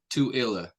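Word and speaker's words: Tooele: small town is it TOA Utah to so like do like the number two and then IL toilla I need to look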